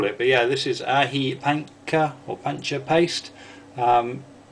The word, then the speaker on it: aji: know how it's pronounced i know aji should be pronounced ahi but over in the uk quite a few people call them aji um but yeah forgive